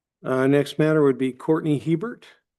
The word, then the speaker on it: Hebert: Next matter would be Courtney Hebert. Pronounced Hebert?